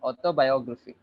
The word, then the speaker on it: autobiography: And the word, the syllable before it would be is stressed. Photography. Photography. Photography. Correct. Photography. Biography Biography. and autobiography.